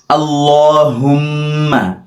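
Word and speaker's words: اللهم: ঢুকবো এবং ঢোকার পূর্বেই আমরা এই দোয়াটি পড়বো আল্লাহুম্মা ইন্নি আউজুবিকা মিনাল খুব আল্লাহুম্মা অনেকে আল্লাহ পড়ে আল্লাহ এরকম হবে না আল্লাহ শব্দ হুম্মা এই জায়গায় হুম্মা পড়ে অনেকে হুম্মা হবে না হু হু হু এরকম হুম্মা আল্লাহুম্মা ইন্নি ইন একটু গুনা করতে হবে নি একটু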